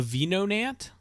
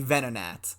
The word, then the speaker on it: Venonat: well, no, the proper term is actually Venonat.